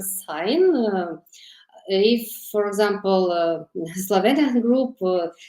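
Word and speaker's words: sine: I'm using English pronunciation sign if for example Slovian group normally pronouncing senos but in this course I will pronounce as sign exponential functions like numpy.x X of X showing rapid growth.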